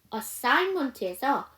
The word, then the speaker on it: assignment: assignment에서 G 사운드가 묵음이에요. 왜? IGN으로 단어가 이어져 있는 단어들은 G 사운드가 묵음이에요. 여러분 여기에 뭐가 들어갔는지 아세요? sign이란 단어가 있어요. 우리가 sign 명사로 하면 표시 표지 그 다음에 동사로 하면 서명하다죠. 거기 뭐가 묵음이야? G가 묵음이에요.